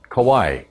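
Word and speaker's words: Kauaʻi: Hawaiians on this island, they call it Kauai without the akina. Okay, so you'll hear it pronounced both ways, and I'll probably pronounce it both ways.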